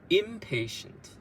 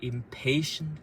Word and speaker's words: impatient: She wanted everything to be perfect, but her impatient, so here you can read two ways, impatient colleague or impatient colleague. So I like the second one better, but her impatient colleague kept rushing her to finish.